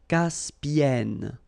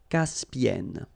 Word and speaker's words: Caspienne: Okay, and then double consonant here, and it's the same, and N, so it does open the sound here. So it's e. Caspienne. Caspienne.